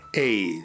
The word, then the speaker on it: Haye: Póngase en manos de Hey, propiedades Hey, H-A-Y-E, Hey se pronuncia.